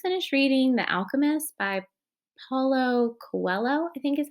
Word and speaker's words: Paulo Coelho: um i just finished reading the alchemist by paulo coelho i think is how you say his name